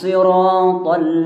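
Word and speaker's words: الصِّرَاطَ: Kita bacanya sod bukan sin. Untuk riwayat Hafs an Asim itu bacanya sod. Jangan sampai di situ huruf jadi sin.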